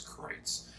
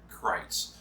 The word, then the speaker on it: Kreuz: christ by the way that is the proper way to say it is kreitz he told us it's like kites but with an r right so krites uh the that brisket